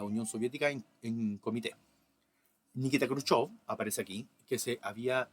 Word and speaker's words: Khrushchev: Se escribe Khrushchev, pero siempre he sabido que se pronuncia Khrushchev, ¿no?